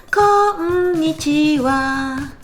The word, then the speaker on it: konnichiwa: Et notamment, il y a une chanson, Shudaika Girls no Uta, dont les paroles sont Yoshie no Uta de konnichiwa. Là, vous entendez bien. Konnichiwa. 5 syllabes.